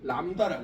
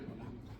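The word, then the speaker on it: lambda: 이걸 읽을 때 바로 람다라고 해야. 람다. 오케이. 뭐라고요? 람다. 이게 파장이야. 돼. 람다. B는 묵음이야. 오케이.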